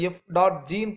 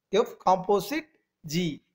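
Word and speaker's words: f∘g: இதுக்கு எந்த simple use பண்ணுவாங்கன்னா டாட், பெரிய பட்டை மாதிரி போட்டுக்கா, எஃப் ஓஜி மாதிரி இருக்கா, ஃபாக் மாதிரி இருக்கா, ஃபாக் கிடையாது, அது எஃப் டாட் ஜின்னு ப்ரொனவுன்ஸ் பண்ணணும். எஃப் காம்போசிட் ஜி, எஃப் காம்போசிட் ஜி.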